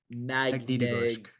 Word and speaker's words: Magnitogorsk: He has 12 points in 6 games on, it's called Stalin Magnitogorsk. Gorsk. Okay, perfect. Magnitogorsk. Magnitogorsk. Yes. Yeah, love the name. not the best at pronunciation.